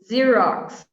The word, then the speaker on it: Xerox: a tricky one here xerox i love this one it sounds like a z or z as you say and it's written